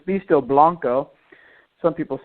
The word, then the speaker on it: Beasto Blanco: be that it's beasto Blanco some people say blanco but it's pronounced Blanco like the last name it's very simple I